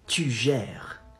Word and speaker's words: tu gères: You say, tu gères. Tu gères. Not tu gère. Gère. Gère. R. Comes from the throat.